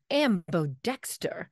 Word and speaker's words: ambodexter: Howard only last week Philadelphia that sounds awful ambo Dexter how now tutor files what thank you if